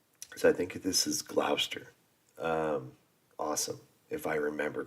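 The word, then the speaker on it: Gloucester: it or is it Glouchester it's not it's Glouster I believe it's like it's like Lester you know when when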